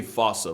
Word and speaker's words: fossa: And of course, we're talking about Madagascar's top predator and a bane to lemurs everywhere, the fossa. Although with its spelling, I'm pretty sure it's actually fossa, but the day I pronounce it like that is the day I lay my childhood to rest.